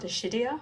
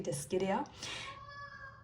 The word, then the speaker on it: Dischidia: It's not Dischidia, which it looks like it sounded like that, but it should be Dischidia.